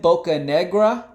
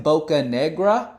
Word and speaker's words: Bocanegra: congratulations congratulations to Bocanegra I think that's how you say his name probably supposed to roll my R but I'm not even gonna embarrass myself an attempt to roll the R so Bocanegra congratulations